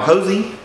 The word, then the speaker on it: Hosea: man named hos now hosy he spells his name like Hosea like from the Bible but pronounced like Jos now Josie is still